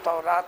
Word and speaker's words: تورات: کتاب جس کا نام تورات تھا، توریت یہ دونوں تلفظ صحیح ہیں۔ تو اللہ تعالیٰ نے